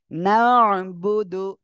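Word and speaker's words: نعبد: শুধু উচ্চারণ ওকে তারপরে নুন আইন জবর না পেশ দাল পেশ দু নাবুদু নাবুদু ইয়াকা নাবুদু অনেকে বলে নাবুদু তাহলে কি ভুল হবে না এটা ভুল হয়ে যাবে এটা আমাদের খেয়াল রাখতে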